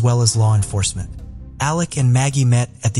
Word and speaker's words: Alec: covering it appears that he pronounces his name as Alec instead of Alex but I wasn't really